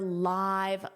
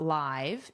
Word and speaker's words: live: So in that case, you also use this pronunciation of the adjective form. Now, I wanted to share one example using both very close together. I live to watch your live lessons.